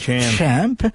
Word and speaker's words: Champ: champ de champ ouais il faut une petite prononciation anglaise champ qui est le nom